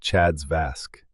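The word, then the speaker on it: CHA2DS2-VASc: And then ask for the third thing, a Chad's 2 Vasque score assessment, pronounced Chad's Vasque.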